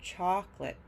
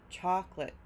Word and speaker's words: chocolate: the pronunciation is different chalk is stressed lit is not chocolate chocolate and lastly we have